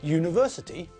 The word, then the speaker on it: university: With university, when we say the word, we pronounce it with a y as the first letter. We say university, not university. So it sounds like the first letter is a consonant.